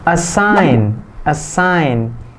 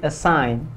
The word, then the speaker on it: assign: Assign, ini G-nya sama dihilangkan kayak yang resign tadi. Assign, bukan assign gitu ya, enggak terlalu maksain, jadi assign. Alright, bukan assign gitu, jadi kayak ada kol-kolahnya.